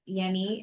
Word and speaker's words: Yenni: addition which is that Yenni and I was pronouncing her name incorrectly originally it is pronounced with a Y sound y yes uh she